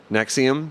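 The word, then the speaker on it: NXIVM: master/slave sex cult and XIV M which is pronounced nexium because they're [ __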